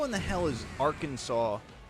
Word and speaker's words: Arkansas: Ar Kansas. Ar Kansas. Why not just regular Kansas? And somehow that word is pronounced Arkansas.